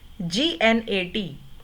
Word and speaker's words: gnat: gnat में जी silent है, चाहे लिखा हुआ है, पर वो ना से स्टार्ट हो रहा है, तो this is also not alliteration.